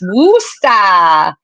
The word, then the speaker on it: Worcester: Yeah, we never say the name wrong, Ty, ever. It's Worcester.